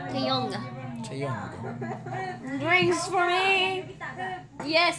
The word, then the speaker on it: Taeyong: you have to pronounce the G. Taeyong.